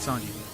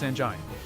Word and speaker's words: Sanjai: My name is not Sanji. It's Sanjai.